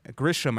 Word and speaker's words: Grisham: Governor Grisham, I believe is how you pronounce her name.